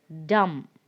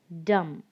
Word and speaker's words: dumb: and the next word dumb dumb so in this four words the letter b is silent we don't we don't